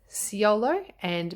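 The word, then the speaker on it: Siolo: So it is Ciolo, but each video that I watched pronounced it either Linestrider or Linestrider.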